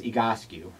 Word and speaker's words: Egoscue: you here i want to know what is egoscue well uh first of all you're pronouncing it correctly so you're one of the